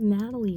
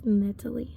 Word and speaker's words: Netalie: It said Netalie Bayo the whole time. At least he didn't say her name was Natalie, right? She hated being called that. Her name was Netalie, okay?